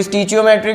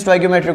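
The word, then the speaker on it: stoichiometric: स्टोइकियोमेट्रिक कोएफिशिएंट, स्टोइकियोमेट्रिक, कोई स्टीचियोमेट्रिक भी बोलते हैं बट the correct pronunciation is स्टोइकियोमेट्रिक कोफिशिएंट, ठीक है।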